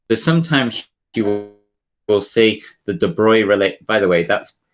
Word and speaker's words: de Broglie: planck's constant so sometimes you will see the de bruy really by the way that's um obviously spelt broccoli but it's it's pronounced de bruy so um you'll sometimes see it written as